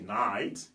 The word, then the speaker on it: night: fait ok mais là le G H pousse le i à être prononcé comme a alors il c'est night qui veut dire la